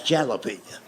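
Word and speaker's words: jalapeño: That's jalapenñ." And I made the mistake of trying to explain that to him. I said, "I know it's a J, but it's pronounced with a H.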